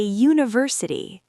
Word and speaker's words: university: A university, y sound, consonant. Even though university starts with U, it sounds like you.